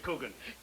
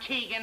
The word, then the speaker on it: Coogan: Coogan. He knows my name. Sweetest sound there is to a man's ear, his own name. And pronounced correctly, too. Not Keegan or Cogan.